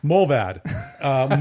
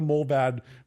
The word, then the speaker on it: Mullvad: we've done, okay, and now we've got Mullvad. Mold like warm cider, and vad rhymes with rad.